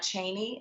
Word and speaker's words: Cheney: It's Cheney, not Cheney, and people just mispronounced it.